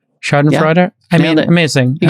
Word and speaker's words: Schadenfreude: I literally pronounced that correct. Schadenfreude.